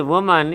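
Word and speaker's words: women: रही थी the world वुमन इसका उच्चारण होता है ध्यान रखेंगे वुमन और इसी में जब ई लगा देंगे यानी बहुवचन वाला तो उसका उच्चारण हो जाता है वीमेन क्यों होता है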